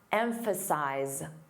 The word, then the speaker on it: emphasize: The verb emphasize z a voiced sound at the end.